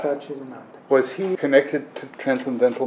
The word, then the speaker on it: Satchidananda: This man, the Swami, how do you pronounce his name? Swami Satchidananda. Satchidananda. Satchidananda.